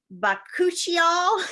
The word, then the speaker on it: bakuchiol: And then bakuchiol, that's really how it's said.